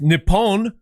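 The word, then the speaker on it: Nippon: If we're doing it if we're doing United States against Nepon, which is how they say it, then I'm okay with it.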